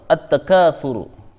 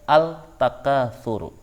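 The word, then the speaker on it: التكاثر: dengan tak maka as-syamsiah cara bacanya at-takatsur tidak boleh membaca Altaf kafuru tapi harus dibaca attaka buruk Hai kemudian yang keenam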